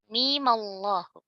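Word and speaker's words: الم الله: Jadi mim, sukun pertama, kita beri fatha. Menjadi "mimallahu, " "mimallahu," "alif lam mimallahu," "alif lam."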